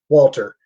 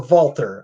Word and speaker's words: Walter: there um so winner walter uh or walter i guess uh using the austrian pronunciation a loser of the